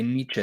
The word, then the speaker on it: Nietzsche: it for me I implore you again the Nietzsche seminar on and by the way Nietzsche that's how you pronounce it these are the links to enroll